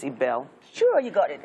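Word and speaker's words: Ibelle: Chef Ibil is here. How you doing? I'm doing well. Good morning, I keep calling you Ibil, but I know it's Ibel.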